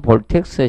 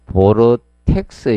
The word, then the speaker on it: 보르텍스: 출식이라고 칭합니다 그리고 사이폰 볼텍스 식 있죠 혹시나 해서 이게 사이폰 원래 보르텍스 식입니다 정확히 발음하면 사이폰 보르텍스 근데 교수님이 사이폰 냥 볼텍스 식이라 쓰는 거야 시험도 볼텍스 시로 나왔습니다 예 아 이게 저기